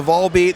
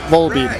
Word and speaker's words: Volbeat: and I've always said Volbeat because when I read the story about how the name came that's how you would pronounce that you know volume beat Volbeat right right okay um